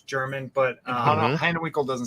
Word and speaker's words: Hanewinckel: How do I pronounce the last name? Hanewinckel. It's Hanewinckel, but you can use it.